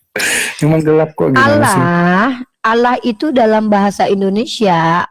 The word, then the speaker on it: Allah: Kalau kamu baca al l ah bukan alah karena l-nya dua maka bacaannya bentar bentar kita kena pelanggaran, Guys.